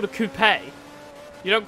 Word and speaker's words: coupe: not called a coupe so it's called a coupe you don't call it a chicken coupe americans call it a coop there's an e at the end of it